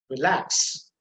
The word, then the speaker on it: relax: Now again, if it is a verb or a preposition, and if it is disyllabic, then obviously the stress will be on the second syllable. For example, relax, relax, receive, direct, among.